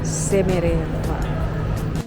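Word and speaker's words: Шереметьево: Namanya Sheremetyevo tulisannya. Bacanya tulisannya Sheremetyevo, bacanya Sheremetyevo.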